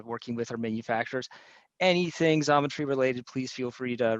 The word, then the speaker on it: Xometry: to take work from Exometry's website or as I should say Zometry. I do pronounce that wrong. There is no X as I've been scolded for the last week.